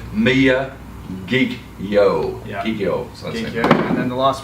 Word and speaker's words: Miyagikyo: we should do is just clarify Mia kikyo me a geek you me a geeky oh that's how you pronounce it yeah a lot of people wonder how the how you know we struggle with it'll be ourselves so Mia geek yo he kills and the